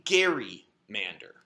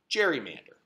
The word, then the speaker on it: gerrymander: cartoon where it was called a Gary Mander which we then proceeded to mispronounce to the point that it's now called gerrymander so strange shapes have